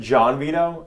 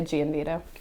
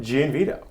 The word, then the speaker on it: Gianvito: But I always get confused because somebody said John Vito, and I was like, it's Gianvito. I think there's different ways to pronounce it, but we would just say Gianvito.